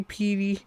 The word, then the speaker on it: piety: hair, kneeling with seemingly piety? Piety? Piety. It was spelled like deity. I don't know that word. Piety. It's spelled like deity. How am I supposed to know? By me telling you it's piety.